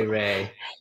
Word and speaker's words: Ray: So my Instagram handle is Rea, spelled the actual way, and then underscore say Ray, spelled R-A-Y, because that's how you actually pronounce it.